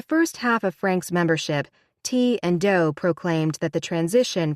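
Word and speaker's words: Ti and Do: B and Peep and T and do pronounced T and do like the notes on a scale in Heaven's Gate every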